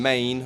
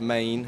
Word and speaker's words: Men: Enys means island, and Main, although it's spelled M-E-N, is pronounced Maine, as in M-A-N-E, means stone.